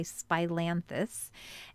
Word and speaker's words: Spilanthes: people haven't heard of it's philanthes i've also heard some people say spilanthus i've heard many different ways to pronounce it but just so we're